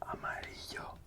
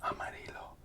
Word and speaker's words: amarillo: And see the double L here in this word. So it would be pronounced amarillo, not amarillo. Amarillo.